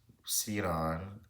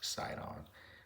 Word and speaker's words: Sidon: such as Ty, Biblo, Sidon, and Carthage. Or maybe that's pronounced Sidon. I like Saon.